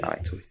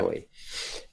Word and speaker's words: Toei: And this is spelled Tohi, right? Am I or Toei? EI, right? Yeah, that's it. Toei. Yeah. Toei.